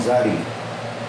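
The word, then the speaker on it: צ: How do you pronounce the second sadi? It's the same. Sadi. It's a noisy S.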